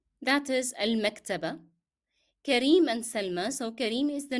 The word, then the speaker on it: سلمى: And here remember we are pronouncing yeah in Salma as alif because the preceding letter is carrying fatha. So you pronounced as if it is alif. Salma.